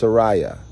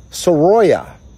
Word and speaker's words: Soraya: No, it's not Soraya, it's Soraya. Soroya. No, Soraya.